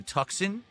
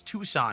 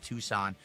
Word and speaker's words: Tucson: So we can go to Tuxen. Is it Tucson? It's Tucson is how you pronounce that, right?